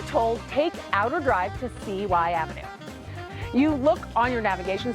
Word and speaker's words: CY Avenue: For those of us that live here, we know it as CY Avenue.